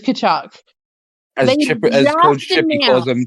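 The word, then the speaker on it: Tkachuk: Is it Ta or Kachuk? Kachuk. Just Kachuk. It's just Kachuk.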